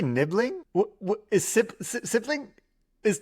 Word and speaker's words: nibling: Ah rhyming with sibling people have created nibbling and it starts with end.